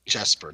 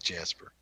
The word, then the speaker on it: Jesper: Jesper, not Jasper.